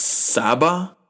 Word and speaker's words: Saba: So the person I'm getting is I believe it's pronounced Saba, Saba.